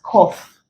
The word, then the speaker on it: cough: up under this sound the words cough and Truth they are actually pronounced as o so they contain the